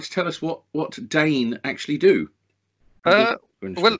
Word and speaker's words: DEHN: dying dating right so there's my first question Jane not den right okay I'd always pronounced it den me onto the boat nothing called worse as